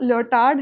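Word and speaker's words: Lyotard: हम Indian pronunciation के हिसाब से चलते हैं, मैं तो इसे ल्योटार्ड ही बोलूँगी, वैसे मैंने इसकी प्रोनाउंसिएशन चेक करी, ये एक्चुअली ल्योटार है, जो डी है वो साइलेंट है।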